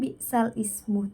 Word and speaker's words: bi'sal ismu: Jadi bacaan bi'sal ismu tersebut ketika dibaca berubah menjadi bi'salismu.